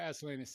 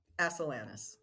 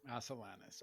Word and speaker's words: Asilanis: thank you thanks Cara Asus thank you let me say your name I I don't want to say it wrong is it how do we say the last name again as salanus as salanus okay cool Cara it's